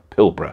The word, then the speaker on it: Pilbara: iron ore mine pillar I would say pilbara pilbara apparently is how you say it Western Australia now this